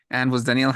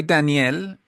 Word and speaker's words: Danielle: this yesterday but um when you say Danielle and you say Danielle is a woman actually an English that